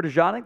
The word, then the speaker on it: DeJean: First defensive player, Cooper DeJean, that's how you pronounce it, out of Iowa.